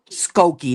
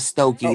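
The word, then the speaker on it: Skokie: Skooki, not Stoki.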